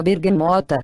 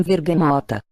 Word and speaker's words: bergamota: que se dá com a nossa bergamota que alguns pronunciam vergamota pelo v perdoa guitta é um